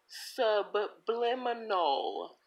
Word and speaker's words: subliminal: It's subliminal. Subliminal. Take out those extra S's in there. With that lisp, it's subliminal. If you can't pronounce the words right, stay away from it.